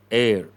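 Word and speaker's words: heir: Air. H is silent.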